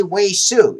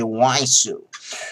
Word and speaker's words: WeiSu: i don't know why i can't say wei su it just doesn't sound natural to me it feels better to say waisu so why say why sue uh okay so about